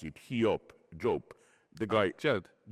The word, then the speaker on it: Job: I say book of how do you pronounce it? He job the guy.